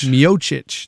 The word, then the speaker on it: Miocic: Miocic.